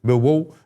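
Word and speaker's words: Millwall: always sit at in Mil Wall, Milw Wall as it's sometimes pronounced and you watch your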